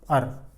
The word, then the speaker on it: our: हां एक चीज और ओ यू आर इसको हम अवर नहीं बोलते नहीं आर सुन लो पहले सुन लो फर्स्ट लिसन टू मी अवर को हम बोलते हैं अर ठीक है अर हां